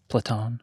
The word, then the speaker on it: Platon: Platon.